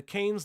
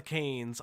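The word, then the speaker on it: Cannes: gonna I know it's the cans not the kanes I know uh New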